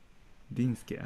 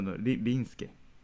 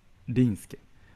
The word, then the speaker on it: Rinsuke: Dinsuke. No, Rinsuke. Rinsuke. Not Dinsuke and Dinsuke. Rinsuke.